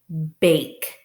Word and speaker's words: bake: B-ache, bake. And I know bake, it has a long A sound, and it uses the silent E syllable, bake.